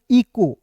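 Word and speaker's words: echo: सी एच का क्या हो जाएगा दोस्तों? यहां पे क के रूप में करना है। ओ है तो उसका उच्चारण ओ के रूप में करना है। तो क्या हो जाएगा दोस्तों? ई सी एच ओ इको। क्या पढ़ेंगे दोस्तों? इको पढ़ेंगे। ठीक है?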